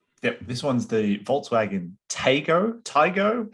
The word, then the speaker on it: Taigo: Yep, this one's the Volkswagen Taigo. How would you guys pronounce it? I'd say Taigo. Taigo.